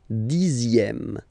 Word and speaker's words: dixième: Le dixième, so remember, even if you've got this z, X here, you pronounce it z, dixième, dixième.